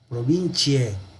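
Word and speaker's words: provinciae: Obviamente, ¿cómo se pronuncia en latín? Provincie, por la CI.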